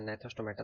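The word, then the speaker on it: Gnathostomata: division में एगनेथा एंड नेथोस्टोमेटा जिसमें जी silent होगा तो इसमें फिर एगथा को फिर फदर डिवाइड किया गया साइक्लोस्टोमेटा अब हम देखते हैं इधर नेथोस्टोमेटा तो नेथोस्टोमेटा को फिर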